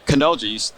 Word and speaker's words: Canoja: Canoja.